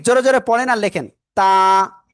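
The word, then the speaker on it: ت: তা, তা, তা। তা অক্ষরে আমাদের ভিতরে একজন বলতেছেন দুই আলিফ, না এটাই এক আলিফ টেনে পড়তে হবে।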